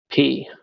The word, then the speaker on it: Poirot: But Poirot, there's no roll of the R really. Agatha Christie Poirot is what you're saying? No, Poirot. P is in Paul.